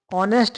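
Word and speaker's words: honest: ऑनेस्ट मैन में क्या है? एच साइलेंट है और जो साउंड है वह ओ से आ रहा है।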